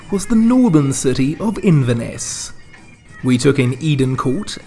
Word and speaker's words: Inverness: But you can't go to Inverness, key syllable being Ness, and not go looking for you-know-who.